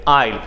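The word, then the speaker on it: aisle: वो कहलाता है आइल, यहाँ पे एस होता है साइलेंट, आइल, ठीक।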